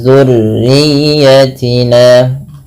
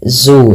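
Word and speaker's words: ذُرِّيَّتِنَا: Wa min dzurriyyatina, ya, dzurriyyatina, hati-hati jangan dibaca zu ya, tapi dia huruf zal kecil.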